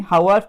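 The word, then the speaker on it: Haworth: हावर्थ structure, sorry हावर्थ नहीं, हावर्थ structure. ठीक है, आप प्रोनाउंसिएशन कुछ भी करो लेकिन याद रखो हावर्थ स्ट्रक्चर इसको बोलते हैं।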